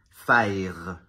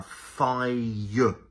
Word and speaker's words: fire: par exemple le feu un francophone spontanément va avoir tendance à prononcer fire en roulant le r alors qu'un anglophone peut importe le type d'anglophone que ce soit un Britannique ou un américain va toujours prononcer ce son là avec un diphtongue donc au lieu de dire fire on va avoir un faille donc c'est comme s'il y avait un y invisible donc au lieu de